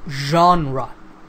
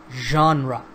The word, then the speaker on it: genre: style of art music literature or film it's pronounced genre Jean rock genre now some movie genres can be drama romance